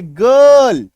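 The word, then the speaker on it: girl: के बाद आर है, आई के बाद क्या है, आर है, तो उच्चारण देखिए गर्ल, क्या उच्चारण हो रहा है, गर्ल।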